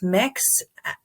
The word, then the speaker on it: Mx: ash brandon my students i use the prefix mix which is print which is spelled mx dot that's the gender neutral prefix